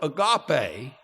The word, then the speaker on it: agape: Agape. It's way we would pronounce that.